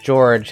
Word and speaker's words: Georg: By the way, his name was not George in Suikoden 2. It was Georg. Georg, not George.